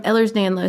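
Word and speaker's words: Ehlers-Danlos: said on Tik Tok that you also have Ellers danoff is that how you say it yes it's um Ellers danlo syndrome and I can't officially say that I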